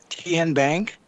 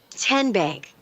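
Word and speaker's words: TnBank: Tien Bank? Nope. Tin Bank? So what is it? 10 Bank. 10, as in Tennessee, right here where all our banking decisions are made.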